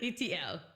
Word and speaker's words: ETL: ETL, and you pronounce ETL like the letters ETL. You know the movie E.T.? So it's an L. ETL.